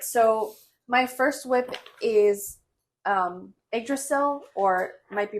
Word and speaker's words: Yggdrasil: So my first whip is Yggdrasil, or might be pronounced Yggdrasil.